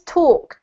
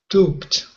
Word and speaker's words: talked: Just a note, this one's talked, so it's a t sounding ending. You haven't talked. Talked.